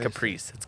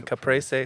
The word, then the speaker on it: caprese: no antibiotics ever yep it's not Caprice I was gonna say Caprice I don't know but it sounds good that's the Italian pronunciation caprese which is like the